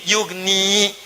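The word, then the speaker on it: يغني: Padahal asalnya bisa dibaca begini, yugni. Tapi karena ada in ya dibuang jadi yugni cepat. Ada ya bacanya panjang yugni. Tidak ada ya baca cepat yugni.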